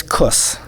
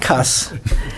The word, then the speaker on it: Kuss: Our name is Kuss, yes. and it's not cuss. It's spelled with a K, and it rhymes with puss.